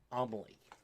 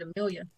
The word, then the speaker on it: Amelie: I had to go and listen to someone interview her so that I knew how to say her name, because I've never seen that name before. I would have said Amelia. Yeah.